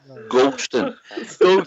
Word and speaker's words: Goldson: I was told to phone in Southside and tell you to stop saying it wrong. Goldston. There's no tea in it.